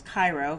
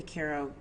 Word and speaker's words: Cairo: where they live in Koo Georgia to which I thought was Cairo because it's spelled the same as Cairo Egypt but it's Koo Georgia so um anyway they